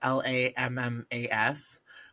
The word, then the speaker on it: Lammas: So the first of those holidays is Lammas, or Lammas, or Llamas. It's Lammas. And then there's another version